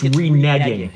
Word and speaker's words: reneging: story okay okay so is it called re-nagging cause i've been saying it wrong my whole adult life well i say it like you do but but technically i think it's reneging we i've read that